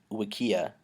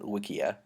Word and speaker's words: Wikia: as an aside mention you pronounced it Wikia like rhyming with Ikea yeah which I I pronounce it Wikia that's awful I hate